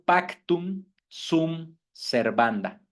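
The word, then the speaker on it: pacta sunt servanda: Por lo tanto, uno de estos principios se escribe y se pronuncia en latín como pactum sum servanda. Pactum sum, S-U-N-T, pactum sum servanda, con S.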